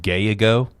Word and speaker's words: Gallo: Gallo is a creep. It's pronounced gayo.